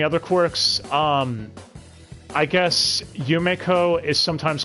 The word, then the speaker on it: Yumeko: far as any other quirks um i guess yumeko is sometimes called yumiko also called yumeko like they cannot stick to pronunciation at all to save their lives on